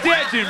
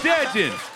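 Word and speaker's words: Dejuain: "It's Dejon, bitch. It's Dejon. Spell it. D-E-J-U-A-I-N. Get off my."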